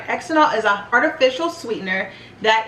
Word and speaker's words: xylitol: I am horrible at pronouncing words, but it's actually pronounced xylitol, not xylitol.